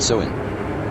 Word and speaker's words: Samhain: Halloween's origins date back to the ancient Celtic festival of Sam Hayne, pronounced soen.